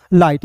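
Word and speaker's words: light: दोस्तों ल हो जाएगा और आई जी एस टी है तो इसका उच्चारण आई के रूप में करेंगे तो हो जाएगा दोस्तों लाइट यानी कि दोस्तों आपको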